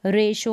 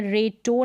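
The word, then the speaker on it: ratio: है, आई ए है, तो इस तरीके से आप समझ जाएंगे कि टी को वहाँ पर हम श पढ़ेंगे। जैसे कि पेशेंट है, रेशो है, उच्चारण यहाँ पर दे रखा है, रेशो है, पोर्शन है, और पार्शल है, क्या है, पार्शल है। अब इसको पेटेंट नहीं पढ़ते हैं, रेटो नहीं पढ़ते हैं, पोर्टन नहीं पढ़ते हैं, पार्टियल नहीं पढ़ते,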